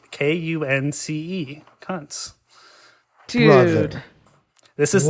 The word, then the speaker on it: Kunce: Yes, this is Lucas Kuntz, who...